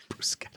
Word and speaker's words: bruschetta: Bruschetta.